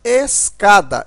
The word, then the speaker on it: escada: carro e a palavra escada. Escada, ó, observa que o K, né, aqui é pronunciado mais forte, ou seja, é a sílaba tônica, e ela é a penúltima.